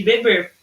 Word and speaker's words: bebe: Uma tem um acento, não tem acento circunflexo, mas é pronunciada de forma mais aberta, bebe, e a outra com acento circunflexo tem uma sílaba que é mais fechada, bebe, tá bom?